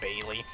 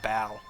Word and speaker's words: Baile: it the Bailey style it's not Bailey I think it's pronounced Bal I got a shiny